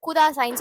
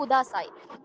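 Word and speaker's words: ください: ப்ளீஸுக்கு இன்னொரு வேர்டும் இருக்கு, குதாசாய்ன்னு சொல்லுவாங்க.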